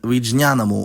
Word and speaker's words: విజ్ఞానం: 2 examples are nagaram or nagaramu and vijnanamu or vijnanam.